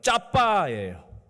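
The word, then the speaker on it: צפה: 히브리어 정확한 발음으로요. 짜빠예요. 짜빠. 나는 짜빠.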